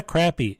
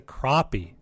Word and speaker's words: crappie: called This is crappy it's not a crappy it's a crappie that would be spelled with an o no no no no